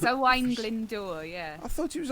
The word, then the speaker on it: Owain Glyndŵr: Oh, it's Owain Glyndŵr, yeah. I thought it was Owen Glendower.